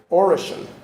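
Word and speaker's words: Oroqen: Lulich has done research on a variety of languages, including Russian, Polish, and an endangered language in northeast China and Siberia, pronounced Orichan, right? Orichan.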